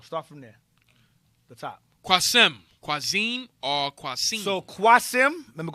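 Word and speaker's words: Qasim: the male given name Arabic pronounced with a long first syllable the meaning is one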